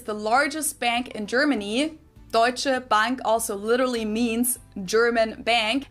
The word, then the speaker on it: Deutsche Bank: Deutsche Bank also literally means German bank, and Americans usually pronounce it Deutsche Bank or something along those lines.